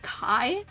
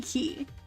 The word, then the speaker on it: Ki: to incorporate Ki into, did they even call it Ki? Did they call it Kai? Like, how did they pronounce it? It's supposed to be Ki.